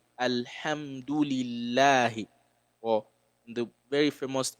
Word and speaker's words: Alhamdulillahi: You have to open your mouth and pronounce it lightly. Alhamdulillahi. So you don't say Alhamdulillahi. That's wrong, right? It has to be Alhamdulillahi.